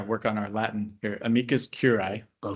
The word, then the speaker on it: amicus curiae: commission of California Michael how do you pronounce that? Uh we are yeah work on our Latin here amikas curai.